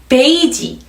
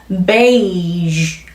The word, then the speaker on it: beige: 이 단어 굉장히 잘못 읽고 있어요. 우리 한번 볼까요? 베이지, 베이지 색깔, 베이지 하고 모음을 딱 갖다 붙이죠. she 하고 모음을 넣는 것과 같은 현상이에요. beige 이렇게 마무리하셔야 되는데요.